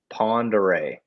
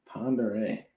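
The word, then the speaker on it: Pend Oreille: cordlingly um and then the other one is ponderay pondere i would have never gotten that they're french names so like coeur d'alene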